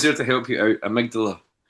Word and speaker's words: amygdala: rest of the song Simon saying amagdala. He's pronouncing it amdala. Yeah. And he's he's genuinely like scared that people think that he thinks that's how you pronounce it. He had he had to make sure that everyone knows he knows it's Amydala.